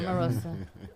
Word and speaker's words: Omarosa: Yeah, Omarosa.